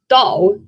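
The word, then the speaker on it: 倒: You see, the Chinese word for upside down, which is pronounced dao, sounds phonetically identical to the Chinese word for arrive or pour out, which is, you know, dao.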